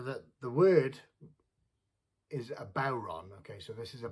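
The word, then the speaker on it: bodhrán: uh yeah so that the word is a bauron okay so this is a bauron uh some people pronounce it buran but uh traditionally called a bauron which is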